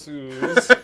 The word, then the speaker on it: Suze: I made the mistake of one time saying Suze, and someone went. Where's the mustache? Real quick. I got you right here. There you go. Mustache. So it's this one down. It's pronounced Suze.